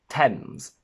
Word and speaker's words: Thames: There are very few exceptions where th is pronounced as a simple t. We have Thomas, Thames, time, Thailand, and potentially just a couple more.